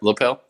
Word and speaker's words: Lapel: So we did a little research on the area, and I was pretty shocked that Lapel, did I say it right? Lapel? Yep, Lapel.